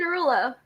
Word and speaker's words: Derulo: It's Jason Derulo.